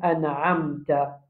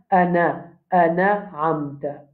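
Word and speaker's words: أَنْعَمْتَ: An'amta, premier erreur qui nous a habitué faire, c'est le sanoun là même. Sanoun là, qui est là-bas? Et na soukoun. Nous, quand nous lisons, nous faisons comme fatha. Nous disons ana amta. Ana amta. C'est pas bon.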